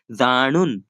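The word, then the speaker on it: जाणून: हमें न है ना बीच वाला न की बात कर रहा हूं मैं लास्ट वाला न की बात नहीं कर रहा हूं ठीक ठीक है? तो उसको ऐसे प्रोनाउंस करना है। जानुन जानुन जानुन दोनों में काफी अंतर है गाइस।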